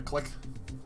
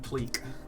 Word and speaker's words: clique: Oh yeah, click. Click is pronounced click. And in math, I often say clique. Clique group. I've heard both clique and click.